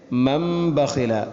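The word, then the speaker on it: من بخل: ആ നൂനിനെ മീമാക്കി മാറ്റുന്നു. അങ്ങനെ മൻ ബഖില, അല്ലാതെ മൻ ബഖില എന്ന് വായിക്കാൻ പാടില്ല. മൻ ബഖില.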